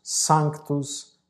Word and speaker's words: sanctus: latim e a cantá-lo em primeiro lugar nós temos o sanctos sanctus sanctus Dominus Deus nós temos um C mudo tá e nós temos um s que temos que cuidar